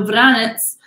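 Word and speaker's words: Vranec: i got the great vranets um with again that c is like a t z so vranets is how the grape is pronounced veritas is just the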